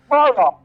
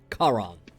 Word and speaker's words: Charon: Or Sharon, how do you want me to pronounce it, Widow? Charon. What? Charon. Charon.